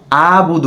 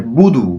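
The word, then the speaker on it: أعبد: লাবুদু টান হয়ে যায় অনেকের আবার বদ এরকম পড়ে এটা যেন না পড়ে বুদু বুদু একবারে স্পষ্ট উচ্চারণ বুদুমাদুন বুদুন এরকম যেন হয় বুদু এরকম যেন হয়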